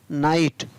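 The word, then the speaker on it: night: नाइट। एन आई जी एस टी, नाइट। तो यहाँ पर जी एस है, आई के बाद में जी एस है, तो यहाँ पर जी एस को उच्चारण नहीं होगा।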